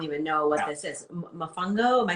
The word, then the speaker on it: Mofongo: Mofongo? Am I saying it right? Okay. Mofongo.